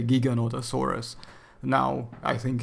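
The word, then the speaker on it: Giganotosaurus: would like to correct saying that it's not gigantosaurus it's a Giga and Otto Soros or gigolotesaurus whichever way you prefer to pronounce it but I say Giga nota Soros now I think it's a bit more correct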